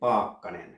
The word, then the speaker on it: Paakkanen: It's pronounced like my last name, Paakkanen. You have a long A, then you have a long K, and then you have a short A after that.